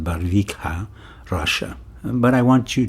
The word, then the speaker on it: Barvikha: The name of the town is spelled Barvikha, and I pronounce it Barvikha, Russia.